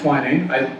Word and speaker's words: Twinning: It's pronounced Twining. Oh, I think you've only ever seen it written.